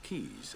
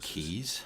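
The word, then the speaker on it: quays: a lighthouse the port was later equipped with keys and warehouse keys to accommodate the I would have never guessed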